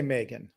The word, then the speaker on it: M3GAN: a movie I think I'm going to pronounce the name right um three again is that right it's a little sticky isn't it but I think you can just say Megan it's Megan oh okay you could